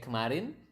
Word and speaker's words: kemarin: Kemarin, do you still remember how do you say kemarin? Kemarin is yesterday, right? So that's how you say yesterday in Bahasa. It's kemarin. Kemarin.